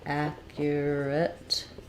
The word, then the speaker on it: accurate: uh accurate so accurate this is an example of a word where the letter U has the ya sound so it's first syllable stress we have the ah vowel um ah so first syllable stress ack then we have the gliding year with the ER your um or you could also write it as Akia yeah red accurate um yes and then